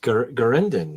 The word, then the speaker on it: Garindan: Is that how you pronounce that? Garindan? Yes, Garindan.